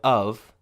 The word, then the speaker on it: of: lot of money and the pronunciation of of becomes a schwa or a sound I